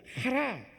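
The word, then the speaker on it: חָרָה: 노했다라는 얘기입니다.이 노했다라고 하는 것은 히브리어로 하라 이렇게 발음해요. 하라.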